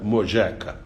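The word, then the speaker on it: molleja: falar de amor jeca e se pronuncia amor já que se escreve moleira m o l l e j ah mas se pronuncia moleka em inglês essas wilfred é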